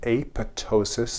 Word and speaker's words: apoptosis: in a process called apoptosis. The P is silent.